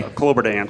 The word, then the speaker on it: Kloberdanz: We got Kloberdanz. Did I say that right? You pronounce it for me. Kloberdanz.